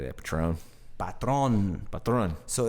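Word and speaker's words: Patrón: You know, Patron. Yeah, you know what I mean? Yeah. I used to say it like that, Patron.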